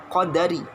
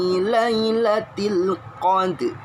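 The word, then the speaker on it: لَيْلَةِ الْقَدْرِ: Ya, jangan qadari, ya, jangan qadri, tapi inna anzalnahu fi lailatul qadr.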